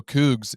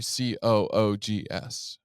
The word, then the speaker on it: Cougs: You say go Cougs, it's actually Coogs.